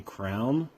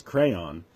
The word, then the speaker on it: crayon: question is for Stephen why do you think it's okay to say Crown it's crayon uh when I was in